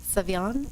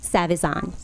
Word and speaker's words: Savizon: I'll spell it for you. It's SAVIZON. Savion? Savazan.